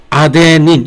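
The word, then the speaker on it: adenine: 아데닌 여기 뒤에 I는 I라고 발음하지 않고 E라고 발음합니다. 구아닌 대문자로 쓰든 뭐 소문자로 쓰든 구아닌 그 다음에 사이토신 그 다음 사이민 이 사이민이 TH예요.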